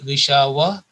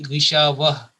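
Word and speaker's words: غشاوة: When we stop here, make a pause, it will be ghishawa. Two dots will be removed, and also the dhammatain, this identical dhamma, Urdu word is for pesh, that will be removed, and a sukoon will come in pronunciation, in talaffuz. So that will be gishawah.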